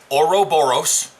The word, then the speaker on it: Ouroboros: huh um now the escort which is the Ouroboros that's pronounced Ouroboros it's the temporal Raider these are gonna be